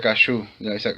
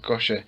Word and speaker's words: kosher: Creo que se pronuncia kashu, kosher, pero significa así algo